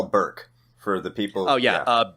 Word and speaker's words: Burke: Like B-U-R-K-E, just Burke. Nice and simple, right? And what I get a lot is Berkey, and I have never understood that.